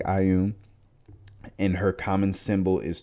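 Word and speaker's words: Ioun: different deity called uh i um pronounced like ayum and her common symbol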